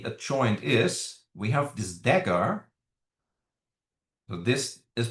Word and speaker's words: dagger: We have this dagger. So this is pronounced as dagger.